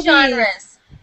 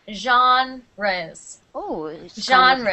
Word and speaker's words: genres: movie Jes yes movie genres and when you say that word let's say it like this jees ohre French yeah is a French okay it's French good